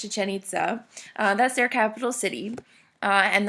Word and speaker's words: Chichén Itzá: to be accents I'm sorry but it is pronounced chichén itzá that's their capital city and the mayans actually